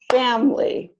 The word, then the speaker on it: family: with only two syllables so all of these words are pronounced aspirin average Barbara business camera different evening every family favorite federal general dressed